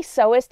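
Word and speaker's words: sewist: bring home some fabric I say seist instead of seer because Seer is spelled sewer and you're not making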